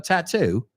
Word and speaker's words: tattoo: Also in British English as well, a tattoo, but always the accent, the emphasis on the second part of the word.